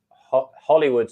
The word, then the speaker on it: Holywood: Hollywood spelled Holy Wood, Holywood maybe, but it's pronounced Hollywood, I think.